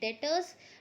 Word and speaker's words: debtors: So the very first term is debtors. B is silent here. We pronounce it as debtors.